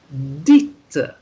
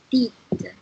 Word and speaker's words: dite: Then the T sound comes out when you have the letter E after it. Then it becomes une chose dite. Can you say that, Yzabella? Une chose dite.